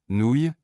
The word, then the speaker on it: nouilles: En français, les mots se terminant par ouille se prononcent oui. Nouilles, j'ai cuisiné des nouilles pour le dîner.